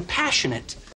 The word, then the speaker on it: passionate: Enfatizando la primera sílaba, passionate.